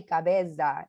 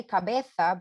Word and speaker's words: cabeza: school child sorry but you don't say cabeza you say cabetha because zet is pronounced fe in spanish you could even say say if you wanted so that was like